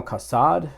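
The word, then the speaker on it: Kassad: that's father Hoyt uh another guy um Colonel casad that's how you say his name he tells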